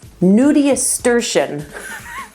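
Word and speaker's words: nudiustertian: promise you nudia sturtion i actually had to look up how to say it because i wasn't sure nudia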